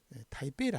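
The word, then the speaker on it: 台北: 없으니까 다라 날비 하는데 우리는 중국 수들을 북경이 하는데 중국 사람들은 베이징 하죠 베이징 예 예 대만의 수도를 타이베이를 하죠 타이베이 북 타이대 북인데 예 타이베이 배로 발음합니다 예 중국 발음 입성은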